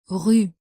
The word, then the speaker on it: rue: In this tiny little word, there are two difficult French sounds, the French R and the sound U, rue.